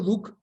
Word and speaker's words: Duch: Entonces yo digo, este apellido Duc, que en realidad se escribe Duch en castellano, se parece a mi